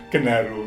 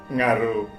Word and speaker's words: genaro: tutur yang yang betul bukan genaru Ngalam yang betul adalah ngaro Ngalam karena orang mengucapkannya kan orang kalau dibalik kan ngaro tetapi Ketika dilihat bahasa tulis ada ng kemudian diucapkan menjadi genaro genaro G kayak lebih